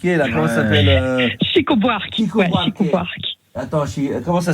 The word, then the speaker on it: Chico Buarque: Chiqui Buarque là. Comment ça s'appelle? Chico Buarque. Chico Buarque. Attends, comment ça s'écrit?